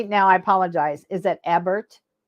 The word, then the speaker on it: Ebert: I apologize is that Ebert it's pronounced either way we pronounce it Eber but it can be pronounced either way it gets called either